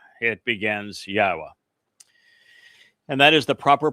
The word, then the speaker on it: Yahweh: It begins Yahweh and that is the proper pronunciation of the name of God as directed